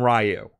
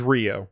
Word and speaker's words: Ryu: like the cartoon and the movie called him Ryu. So that was teaching us how to say the character's name. All right, I'll that's not your fault. It wasn't until years later we learned it was Ryu.